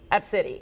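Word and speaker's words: Abcde: So the child's name is Absidy. It's spelled A-B-C-D-E, as you see right there. Absidy is how they pronounce it.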